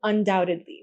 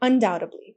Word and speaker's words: undoubtedly: And be careful when you're pronouncing undoubtedly. We don't pronounce that B, it's completely silent, undoubtedly.